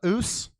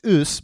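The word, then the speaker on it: Ås: And then you have the oos. What's that? Well, it is spelled inappropriately. Oh. But it's pronounced oos, but it is it is A''A''S'.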